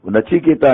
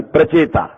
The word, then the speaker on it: प्रचेता: नचिकेता नहीं, प्रचेता, प्रोनाउंसिएशन में गलती हो जाती है।